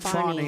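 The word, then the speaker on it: Fani: the horrible case of Fanny Willis it's it's actually pronounced fny it's f a n i but you pronounce it fonny a little French accent there f but that's a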